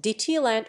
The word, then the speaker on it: Deutschland: Germany countries defined Germany German Deutschland pronounced dtland listen officially the Federal Republic of Germany is